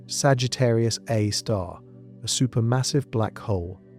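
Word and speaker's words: Sagittarius A*: At the exact center of the Milky Way sits Sagittarius A, pronounced Sagittarius A star, a super massive black hole with a mass of approximately 4.1 million solar masses.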